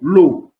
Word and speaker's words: eau: So, whenever you see E-A-U in a word, okay, you have to pronounce that particular combination as O. Example is O. O. E-A-U, the O. Water in French is O. L'eau.